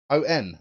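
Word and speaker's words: Eoin: Burke's name correctly because he said Oh n that's how it's pronounced to say Oh n fast so oh in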